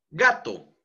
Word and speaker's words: gato: Gato, gato. La penúltima sílaba es la que lleva mayor entonación de voz.